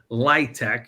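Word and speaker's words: LIHTC: a lie Tech yeah so people say they pronounce it light tech you all probably heard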